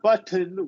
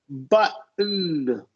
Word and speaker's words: button: So if it's T vowel N, we're going to say not button, we're going to say, or cotton, Okay. we're going to say button, cotton. Okay.